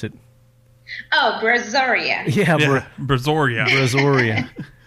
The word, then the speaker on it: Brazoria: it oh Brazoria yeah Brazoria brazor I kept calling it brazia and and the funny